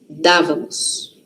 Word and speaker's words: dávamos: Toda vez que uma palavra tem acento, a sílaba forte está no acento. O acento serve para isso, inclusive, tá? Principalmente o acento agudo, né? O outro também, mas o também da dávamos, tá? Não é damos, hein?